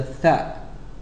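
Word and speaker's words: ث: The 4th letter is the Tha. Learn to associate this letter with the TH sound, as in the word 3.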